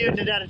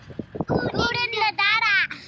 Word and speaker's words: Oodnadatta: to get the iconic photo next to the Oodnadatta track sign. What do you reckon, guys? Hey, Phil, say it again, mate. How do you say it? Oodnadatta.